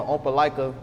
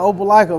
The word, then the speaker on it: Opelika: And how would you say Atlanta compares back home to Opelika, Alabama? I said it wrong again. Nah, you said it right. That's it. That Opelika, man.